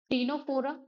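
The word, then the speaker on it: Ctenophora: टीनोफोरा। ठीक है? यहां पे यहां पे जो सी है वो साइलेंट है।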